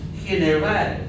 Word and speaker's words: general: So for example, in Spanish, this word that's pronounced general in English would be pronounced general, with the H like here in hen.